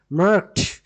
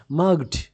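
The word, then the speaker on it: marked: মার্কড। এটির উচ্চারণ ডি না হয়ে ট হবে। মার্কড। আপনারা কিন্তু এভাবে উচ্চারণ করবেন না। যেটি ভুল উচ্চারণ সেটি হচ্ছে মার্গড। মার্গড। ডনা এখানে ট সাউন্ড হবে।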